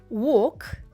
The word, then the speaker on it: walk: це коли в словах випадає літера L це такі слова як звісно would should Я думаю тут ви помилок не робите але це просто приклад вам таких слів да воно пишеться але воно не читається і також Walk Walk Talk Talk і на добівочку